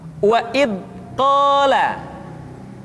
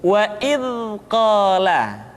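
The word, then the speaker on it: إذ قال: Contohnya wa id qala, atau kesalahan kedua wa id qala. Yang tepat adalah suara dialirkan dengan lembut. Wa idh qala, tidak wa idh qala atau wa idh qala.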